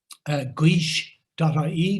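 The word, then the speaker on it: Gaois: Guish.ie, that's a tricky word to pronounce. It's got a triphthong in it, 3 vowels together.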